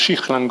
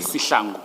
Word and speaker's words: Sihlangu: Is it pronounced Shihlangu or Sihlangu? Sihlangu. Sihlangu. I was several of your experts, not your experts, your officers yesterday were using Shihlangu.